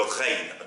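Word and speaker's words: غين: Et vous savez, c'est le R français, hein, ça se prononce comme le R français, le raïn.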